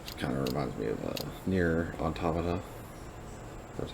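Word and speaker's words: Nier: This setup kind of reminds me of Near Automata. That's how you pronounce it.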